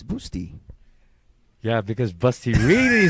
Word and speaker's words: Bustamante: go so nick patrick it's pronounced like busty by the way so it's boosty yeah because busty really